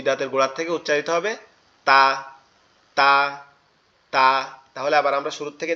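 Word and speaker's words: ت: তা, তা, তা, এরকম ভাবে লাগবে, ঠিক আছে? তাহলে তাটা কোথা থেকে উচ্চারণ হবে? তাটা হচ্ছে জিহ্বার আগা, উপরের দুই দাঁতের গোড়ার সঙ্গে লাগবে, উপরের দুই দাঁতের গোড়ার সঙ্গে।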